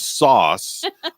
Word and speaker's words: Sauss: His last name is Sauce, and it's spelled SAUSS, Sauce.